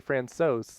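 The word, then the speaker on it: François: And I think it's actually Francois. Like there's an S, but not hard.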